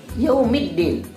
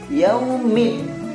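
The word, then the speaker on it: يوم الدين: Kalau alif lam syamsiah tidak dilepas bacanya seperti alif lam komariah, karena alif lam syamsiah idgham syamsiah, makanya hurufnya bacanya dimasukkan. Yaumiddin.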